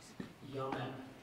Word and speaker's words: yamen: Yamen. Language of origin, please. Language of origin is Chinese.